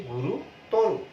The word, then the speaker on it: গুরুতর: দিয়ে তার উচ্চারণটা হবে গুরুতর। গুরুতর ব্যাপার কিন্তু না, গুরুতর ব্যাপার। আমরা যদি পুরো উচ্চারণটি লিখি শব্দটির, তাহলে কি দাঁড়ায়? শব্দটির উচ্চারণটি দাঁড়াবে এরকম, গু রু ত রু, এরকম দাঁড়াবে উচ্চারণটি।